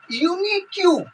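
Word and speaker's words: unique: जैसे अपन क्या है यू आर यूनिक्यू, यूनिक्यू, तो इसमें क्या है कि ए लगेगा। ठीक है, क्योंकि वहां पर बोला है कि यू अथवा ई से आरंभ होगा और उसका उच्चारण यू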